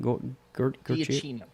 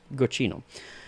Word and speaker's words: Giacchino: Giacchino. Giacchino.